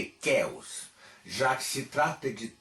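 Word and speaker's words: Ceos: Pois bem, essa é uma das formas possíveis de dizer o nome, embora o melhor seja dizê-lo pródico ou pródicos de Kéos, já que se trata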